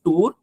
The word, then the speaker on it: tour: One word I found it little different is you said tour. It's not tour, it's tour. Sure.